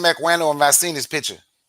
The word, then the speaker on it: Equiano: Olada Ikano. Olada Ikano. Okay. Equiano. Yeah. Equiano. Right. Have you heard of him? I heard the name Equiano and I've seen his picture, but I haven't studied him though.